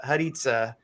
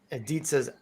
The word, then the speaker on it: Haditza: And our special guest of the night, who is somebody I'm excited to have on here, rhymes with pizza, Haditza. Yes, Welcome. Hadithas.